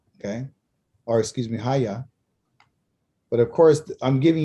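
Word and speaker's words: היה: And there was Kaya, okay, or excuse me, Haya.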